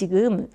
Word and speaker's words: ㅜ: Less effort is needed in the lips for O(ㅗ) than for U(ㅜ). To make U(ㅜ), try from Eu(ㅡ) to U(ㅜ). You really need to round the lips completely.